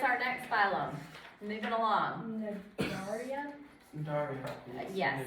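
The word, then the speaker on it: Cnidaria: Nadaria? Daria. Yes. It's I don't know if the C is silent.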